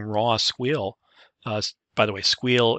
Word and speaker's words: SQL: squeal by the way squeal is the way i pronounce sql i will see that